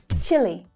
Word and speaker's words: Chile: Now, most English speakers will say Chile rather than Chile, though those who have actually visited Chile are probably likely to pronounce it a bit more like the locals.